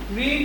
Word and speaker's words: read: তো আমি প্রথমে লিখবো দ্য লেটার, অবজেক্ট এটা, উইল হ্যাভটা হয়ে যাবে উইল হ্যাভ বিন, রিড ভার্বের 3 নম্বর রূপ রেড, শুধু উচ্চারণটা পাল্টায়, বাই রাজা।